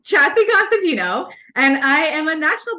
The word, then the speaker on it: Chatzikonstantinou: I am and I will pronounce my last name for you all because I get this question all the time so it's chatty Constantino and I am a